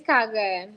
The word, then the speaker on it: Karene: She, I thought it was Karene. She says Karene, right? It's a French. Did I say it correctly? How you say it? It's Kagan, but you said it right.